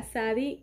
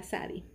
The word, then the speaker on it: Tsadi: Ok, ¿cuál es el comentario aquí de la Sadi? El comentario de la Sadi dice que esta letra es propiamente pronunciada Sadi, Sadi, que tiene dos cabezas, ¿cómo se llama?